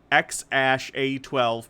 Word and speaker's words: X Æ A-12: the name is pronounced ex ash a 12 pretty much just as it looks AE is a character used in some languages including Danish and Norwegian is often pronounced ash but some people around